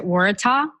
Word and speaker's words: Waratah: flower behind you which is that which you pronounce that Waratah yep perfect pronunciation and it's actually the the